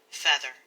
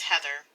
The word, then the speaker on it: Heather: moment she cries out my name feather my name is heather but anna couldn't pronounce it correctly so she simply resorted